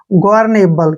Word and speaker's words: governable: का उच्चारण ले हो गया और ई का उच्चारण हम नहीं करते हैं। ग्वार्नेबल, क्या पढ़ेंगे इसको?